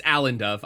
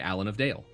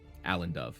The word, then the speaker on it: Alan Dove: Robin Hood thing no I wrote it down when you told me it's it's alen dove I've just said it wrong uh cuz I was thinking Allen of Dale um Allen Dove a l a n d o v e uh now yeah oh